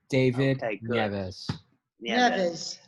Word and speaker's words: David Nieves: Am I pronouncing it right, David? That is correct. David Nieves.